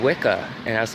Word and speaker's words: Wicca: whatever and it said Wicca and I was like laughs I didn't even pronounce it right I said yka and so I'm over